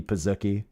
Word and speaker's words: pizookie: You got to say like cookie pizookie. You got to say it like that.